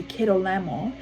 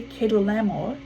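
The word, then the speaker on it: Kedorlaomer: had been subject to keto lamo but in the thirteenth year they rebelled in the fourteenth year kedu lamore i think that's it i think it's a better pronunciation and the kings allied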